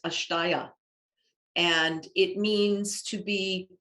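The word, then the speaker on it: अस्तेय: philosophy there is a sanskrit term it is pronounced ashtaya and it means to be non so think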